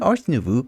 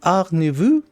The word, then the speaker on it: Ars Nouveau: actually told me that I'm pronouncing Ars Nouveau incorrectly. As my dad used to say, I have no talent for French language. So apparently it's Ars Nouveau, which is incredibly hard for me to say.